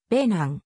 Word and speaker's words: ベナン: 表記されたしかし現在では現地の発音により近いベナンという表記が浸透しそれ